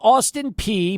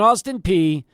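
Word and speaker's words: Austin Peay: their first opponents in this challenge tomorrow is Austin P and by the way there the school is Austin P but p e a y but it's pronounced P not pa um it's p so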